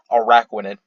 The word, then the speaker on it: Araquanid: We have Araquanid.